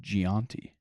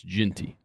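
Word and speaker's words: Jeanty: that's Ashton Gian numbers why' you say gianti why' you say it like that I've heard I've heard people say his last name like that I used to say ginty or Jey and but it's it's ginty is it ginty yeah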